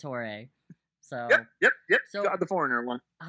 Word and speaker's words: Jorge: Not George. It's Jorge.